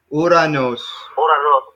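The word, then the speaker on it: οὐρανός: Uranos. Uranos, yeah. Keep in mind, this has got like an R sound. Ra.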